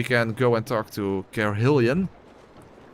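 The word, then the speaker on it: Carhillion: So, we can go and talk to Carhillian. Carillian. I think that's how you pronounce his name. I am Curillion.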